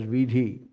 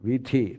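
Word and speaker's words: वीथि: So vithi, they stopped pronouncing it as tha. In the entire Andhra Pradesh and Telangana, they are starting pronouncing it as vidhi. So they say Dangetivari vidhi, Phalana vidhi, Phalana vidhi. Vidhi is the street. So here is the same meaning, vithi, not vidhi.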